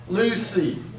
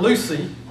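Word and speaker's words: λύουσι: We say luo, luais, lue. Then we say luomen, luete, luci. Not Lucy, like in Lucy Ball, but Lucy.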